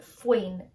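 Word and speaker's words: faoin: fincher na flynn trial another word that is pronounced very differently than how you would think is fwain f-a-o-i-n flynn so picking up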